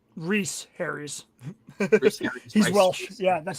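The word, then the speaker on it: Rhys: Tom Rice Harry's um unknown. Um he's in a Netflix movie. I can't remember what it was about, but I heard about it this week. Technically, it's pronounced Reese Harry's.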